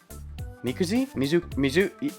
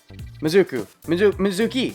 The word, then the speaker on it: Mizuki: Mikuzi? Hold on, names. I learn names over time. I don't learn them all at once. Mizuki. I just looked at it and I said it wrong. Mizuki.